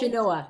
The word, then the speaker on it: Chenoa: Chenoa. Yeah. Karin. Chenoa.